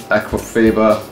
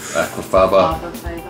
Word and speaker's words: aquafaba: Aquafaba is aquafaba. That's how they say it in Scotland.